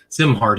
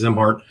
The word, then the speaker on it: Szimhart: His name is Joe Zimart. His last name is spelled S Z I M H A R T pronounced Zimart.